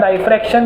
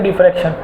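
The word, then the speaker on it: diffraction: उसने ना तो रिफ्लेक्शन दिखाया ना रिफ्रैक्शन दिखाया, कोई नया फिनोमिना दिखाया जिसे बोलते हैं डाइफ्रैक्शन या फिर डिफ्रैक्शन, जो भी आपकी श्रद्धा से आपको जो प्रोनाउंसिएशन अच्छा लगे।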